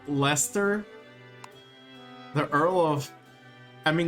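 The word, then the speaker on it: Leicester: the quest again how lester the earl of i mean that's how they pronounce it as lester but that's just funny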